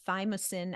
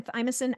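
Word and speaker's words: thymosin: and you type in fosin alpha 1 so I'll spell it out for you guys t h y m like Mary o s i n like November type in thymus alpha 1 and whatever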